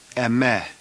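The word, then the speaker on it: ἐμέ: The singular accusative is the same word that we have in English, the word me, but we're going to pronounce it in Greek, me, me, or the longer form, eme.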